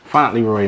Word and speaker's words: Fauntleroy: me your last name finally Roy man I know it's kind of hard to pronounce it's like a mixture like French and some other stuff in there but yeah finally worried